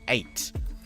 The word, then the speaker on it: AJT: easier option for ajt apparently it's pronounced eight at at which makes sense cuz often the J is silent isn't it so yeah